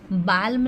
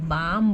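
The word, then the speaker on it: balm: बालम नहीं बोलते इसको हम बाम बोलते हैं।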